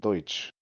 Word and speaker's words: Deutsch: Do most Americans realize that it's German and it's the word Deutsch mispronounced?